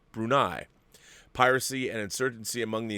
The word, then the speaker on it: Brunei: You see, prior to that, Sarawak was governed as a vassal state of the Sultanate of Brunei, pronounced Brunei.